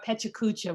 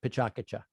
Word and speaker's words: PechaKucha: tomato um you can call it pechakucha or pecha kucha we don't care but we went through a